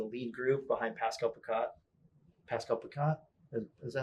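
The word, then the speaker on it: Pascal Picotte: Pascal Picat? Is that how you say his name? Yeah, you got it. Yeah, you Pascal Picat.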